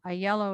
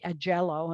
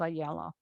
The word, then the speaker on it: Aiello: then to sicily with e lungo or what we would say a jello as some people mispronounce it to eventually the mainland has a yellow as a yellow as well and uh so i'm